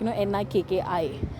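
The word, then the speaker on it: Nikky: The pronunciation is E. Not the I.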